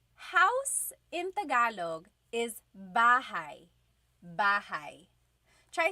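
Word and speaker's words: bahay: Bahai.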